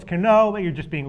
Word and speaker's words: Cano: bit like you right you pronounce it kano it's cano but you're just being